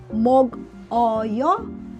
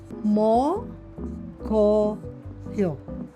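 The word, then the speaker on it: 먹어요: So, instead of uh reading it as meok- eo-yo, you read it as meo- geo- yo.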